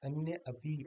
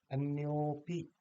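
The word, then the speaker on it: अन्योऽपि: दूसरा भी, अन्य धन अपि, अन्य अपि ऐसे बोला जाएगा वैसे तो, लेकिन नहीं, हम कहेंगे अन्योपि।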